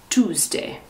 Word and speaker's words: Tuesday: to say tuesday no the pronunciation is like the number two with s twos tuesday wednesday this is a